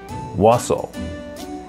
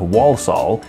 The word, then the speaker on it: Walsall: might not be true Wasel the first L is silent it is not Walsall I've got nothing on